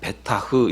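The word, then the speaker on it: בָּטַח: 하나님을 의뢰하여 라 하는데 이 의뢰 라고 하는 그 단어가 베타 흐 이렇게 발음을 합니다 이건 기댄 다는 뜻입니다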